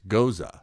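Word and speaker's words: Gose: have pronounced it, but it's Goza is the way you'd say it.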